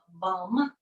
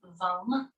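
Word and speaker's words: Vam: If you need a sound, there is a seed sound that goes along with this, and it's the syllable VUM with a V, VUM.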